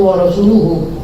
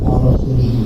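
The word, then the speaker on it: وَرَسُولُهُ: Yang benar itu wa rasuluhu. Nah, takdirnya wa rasuluhu kadzalik. Inna Allah bari'un minal musyrikin wa rasuluhu kadzalik. Dibacanya gimana? Wa rasulihi.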